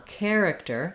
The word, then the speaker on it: character: Victor eyes um so first syllable stress care and then uh character character we have an either an I or I would say maybe a schwa here and that second syllable care Rook character character this t uh is not going to be a strong character um neither will it be a full flap character um so just know